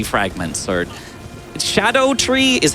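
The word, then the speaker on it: Scadutree: going to start collecting these upgrade materials, these skidoo tree fragments, or shadow tree is how it's like supposed to be pronounced, but it's spelled skidoo.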